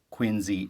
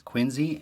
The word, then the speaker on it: Quincy: to a Massachusetts family now that the proper pronunciation of Quincy is Quincy and not Quincy even though it is spelt